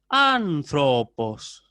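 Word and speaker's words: ἄνθρωπος: En el caso, por ejemplo, del ejemplo que vimos antes, anthropos, ahí yo tengo acento agudo, ¿sí?, la sílaba sobre la alfa. Como la sílaba siguiente, es decir, tro, es larga, el descenso tonal lo aplico ahí. Entonces yo digo anthropos, ¿sí? Anthropos. En la O es donde ejecuto el descenso tonal y por lo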